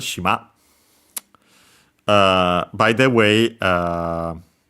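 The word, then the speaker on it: 島: Should be accented on the last syllable. And it is shima.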